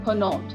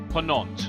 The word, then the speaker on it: Ponant: So think of it as Ponant. Ponant, okay. Ponant. Compagnie so du Ponant. if we were trying to write it, say, in English, we'd go Ponont, Ponant.